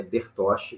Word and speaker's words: Bertoche: Já sei que seu nome se pronuncia assim, Maria Bertoshi, tá certo, tá correto.